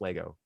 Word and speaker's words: Lego: you have john richards it is pronounced lego anyone who says legos is wrong so that i'm just